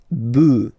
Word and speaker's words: bœufs: just add this S, but then pronunciation changes quite much, because you get des bœufs, all right, un bœuf, des bœufs, all right.